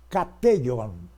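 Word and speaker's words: κατέχων: Kateion, tá? Esta é a pronúncia que me parece era a do grego koiné, de São João.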